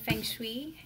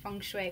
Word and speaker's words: feng shui: you ever heard of feng shui I hope them saying that right feng shui Fung Shui Fung Shui I think that's the right way to say it you know there's